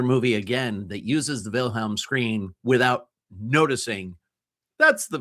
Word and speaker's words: Wilhelm: It's called the Wilhelm scream. Uh it's a German name, so it's spelled with a a W, but it's pronounced with as if it were a V.